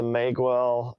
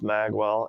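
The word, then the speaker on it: Magewell: SDI I use a mag well I think that's probably pronounced mag well ma GE wel L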